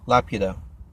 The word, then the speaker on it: Laputa: It's la pew. So laputa. And yeah, when I saw it, the original version, when the original title was mentioned or shown, I thought la puta, like, holy crap, what would you call the bitch? You know, is it named the bitch or the whore in the island or whatever?